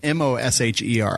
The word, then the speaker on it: Mosier: then Mosier is Mosher. I know none of that makes sense. Just trust me. That's how you say it.